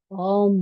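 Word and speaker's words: ॐ: अगर हम बुद्धिस्ट की हिसाब से देखें तो वह उ और म का उच्चारण करते हैं। वह ओम बोलते हैं। मगर हमारे शास्त्रों में जो लिखा गया है वो अम बोला है।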